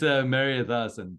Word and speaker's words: Mariathasan: It's Mariathasan, Todd. Okay, great. Well, next time I see you, I'm going to pronounce it correctly.